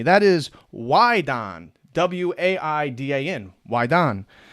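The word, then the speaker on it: waidan: the external alchemy that is why Don w-a-i-d-a-n wydan it's the external Alchemy to attain immortality through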